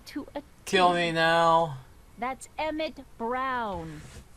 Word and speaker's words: Emmett Brown: kill me now that's emmett brown rhymes with clown which i'm beginning to